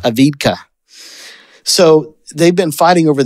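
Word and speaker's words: Avdiivka: a city that I can't pronounce ad ad spell it I'll never a d i i v Ka say it aidka aidka so they've been fighting over this city for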